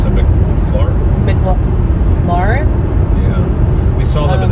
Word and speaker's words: McLaren: It's a McLaren? Yeah. We saw them in the Philly car show. That's how you pronounce it.